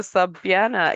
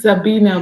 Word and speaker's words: Sabina: Dr. Sabiana, is that how your name is pronounced, ma'am? So I don't murder it on this beautiful Saturday. It's Sabina, but it's okay. Oh, so the A is silent, huh?